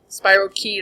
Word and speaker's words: spirochete: Spirochete or spirochete. It's pronounced both ways. Like tomato, tomato.